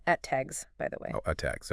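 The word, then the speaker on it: ATAGS: They're procuring 307 units of the ETAGs, and this is pronounced ETAGs, by the way.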